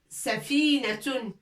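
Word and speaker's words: سفينة: Un grand bateau, on l'appelle safinatun. Safinatun avec voile, tout ça, safinatun.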